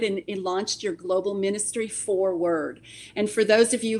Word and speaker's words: 4Word: launched your global ministry, 4Word. And for those of you who are watching, it's the number 4 and then the word word, W-O-R-D. So it's 4Word, but it's spelled out that way.